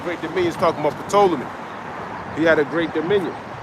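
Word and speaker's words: Ptolemy: I I don't think you pronounce the P and told me, but there's a P in it.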